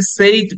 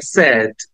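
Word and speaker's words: said: পরপর দিয়েছি একটা হচ্ছে আমরা নরমালি এটাকে সেইড বলি বাট ইটস নট সেইড it should be pronounce like সেড সেড সেড right আর এর পাশের যেটা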